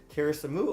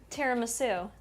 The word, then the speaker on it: tiramisu: Teriasamu over Terasum. How do you say that? Teriu overnight oats. The way you're saying it now. I want to say it like tiramisu.